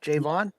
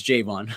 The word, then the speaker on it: Jayevan: javon javon okay yeah jay in the city vaughn so when i used to play sports for a pronunciation key for the reporters and broadcasters that put j-a-y dash the city vaughn so then they know like it's jvonn okay and that's something